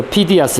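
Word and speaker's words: Phidias: 그래서 피디아스, 여기도 피디아스로, 이거 똑같은데 위에 페이디아스입니다. 그죠? 피디아스, 영어식 발음.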